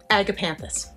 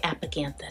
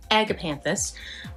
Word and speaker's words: agapanthus: wrong if I don't agapanthus I keep wanting to say applicanthus so agapanthus is this lovely gray